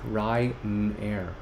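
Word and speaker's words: Rainer: uh think about this my name is pronounced like ryanair ryanair an old germanic male name ah right in the air ryanair ryanair i hope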